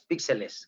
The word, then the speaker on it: píxeles: Y si hablamos de fotografía digital, los bits se relacionan directamente con los píxeles, que se llaman píxeles, no píxeles. No píxeles, píxeles, con acento en la I.